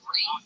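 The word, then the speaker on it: Rhys: Yeah, Reese, right? Yeah. Reese? R-E-E. Spell it R-E-E-C-E-Y-S. Yeah. Well, why do you spell it R-H-Y-S? I don't know if you know how your names get fucking made, Tony, but my mom gave it to me. Yeah, but you get mad every time somebody doesn't call that Reese, even though it literally isn't spelled like the name Reese at all. Yeah, it's Welsh.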